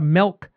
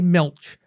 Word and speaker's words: milch: Oh, and no, that's not a mispronunciation. It's not a milk cow. It's a milch cow.